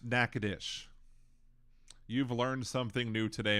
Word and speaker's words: Natchitoches: Natchitoches is pronounced Natchitoches.